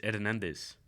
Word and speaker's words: Hernandez: you'd that sounded way you made it sound like your last name was air nandez and it starts but it starts with an H yeah the H is silent what it's Hernandez you don't do the